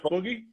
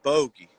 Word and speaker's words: Bogey: He's actually in the room with us now, Chef Boogie? Bogey. I believe it's pronounced Bogey, Chef Bogey. like a stogie.